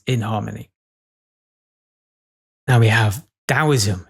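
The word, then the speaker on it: Taoism: Now, we have dowoism. It's interesting how sort of daoism has got a silent T in it. He never say that.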